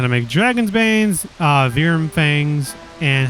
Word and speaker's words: Wyrm: Okay, so the word that you all saw me pronounce, Wyrm, in case you were wondering why I didn't say like worm or Wyrm, is because that word comes from the word Wyrm, Veerm is the pronunciation, which means serpent.